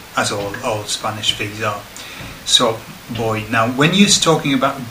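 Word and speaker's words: voy: just will start with boy okay now it starts with a V but it's pronounced with as a billion as all all Spanish so boy now when he's talking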